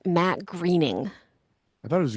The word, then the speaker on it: Groening: Matt Groening, spelled Groening, but it's pronounced Matt Greening. I thought it was graining.